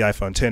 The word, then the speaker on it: iPhone X: You know, they just recently released the iPhone X, or the iPhone 10 as they want to pronounce it.